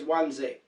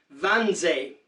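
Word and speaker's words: Wannsee: to kill the Jews that was at onesie or in Germany you would announce pronounce it van Ze that was January of 1942.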